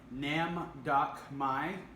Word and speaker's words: Nam Doc Mai: good I like it lastly here is our namm doc my finally learned how to say it these are